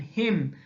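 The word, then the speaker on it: hymn: objective case of pronoun he and hy MN him it's the religious song son impress of God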